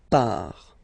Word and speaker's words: part: Final T not pronounced, il, elle, part.